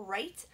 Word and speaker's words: write: Write is tricky, it has a silent W. So if any of the love bugs at home start it with an R for that sound, for write, that's okay because they're phonetically spelling, so it's okay.